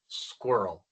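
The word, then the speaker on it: squirrel: Ya saben que en inglés la Q seguida por la U no es igual que en español. La Q sigue siendo el sonido de la K, pero la U no es muda, suena. Es como u, igual que en español.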